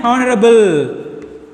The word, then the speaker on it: honorable: Next one, an honorable, honorable, honorable, honorable. Not a H. Honorable, honorable. Honorable Chief Minister, honorable. Here also H is silent.